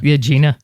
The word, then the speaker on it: Agena: that the right pronunciation? Yeah. Agena.